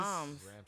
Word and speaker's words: Ramses: RAMSES is his first name. It's Ramses? just Roms.